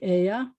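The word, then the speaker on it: ella: spelled like it's not it's spelled e-l-l-a e-l-l-a but it's pronounced like aya el noes is exactly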